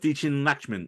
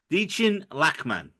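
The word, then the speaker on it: Dichen Lachman: round of applause for the amazing performance of dein lman in this episode who's that Miss Casey good God Jose sorry the way you pronounce names just throws me off so much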